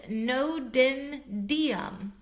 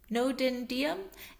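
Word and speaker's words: Ngo Dinh Diem: In 1963, during the leadup to the coupe against President um I'm not sure if I'm going to pronounce his name right. Let's try. President Nodendom, Nodendom, NG O D I N H D I E N.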